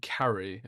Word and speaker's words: Cary: on Friday, but uh it's just me and Carrie at the moment. Is that how you pronounce your name?